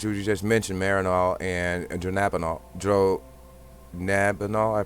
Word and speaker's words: dronabinol: Synthetic THC, which we just mentioned, Marinol and dronabinol. Dronabinol, I pronounced it right, okay?